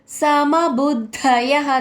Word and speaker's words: సమబుద్ధయః: సర్వత్ర సర్వత్ర సర్వత్ర సమబుద్ధయః సమబుద్ధయః ద కింద ద వత్తు మహాప్రాణక్షరం య తర్వాత విసర్గ ఉచ్చారణ హ కింద పలకాలి సర్వత్ర సమబుద్ధయః మూడో చరణం